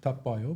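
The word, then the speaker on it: Tabio: So it's tab is a tab browser, Okay. and bio is biography. It's Tapio.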